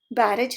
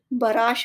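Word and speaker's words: barrage: बैरेज नहीं, बराश इसे pronounce कहते हैं और यूज होता है नाउन की तरह और मीनिंग हिंदी में है गोलाबारी।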